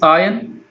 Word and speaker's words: iron: Then the next word is iron. So iron, the word itself indicates there is R in the word, IRON, but it should be pronounced as a iron, not iron. Okay, so iron.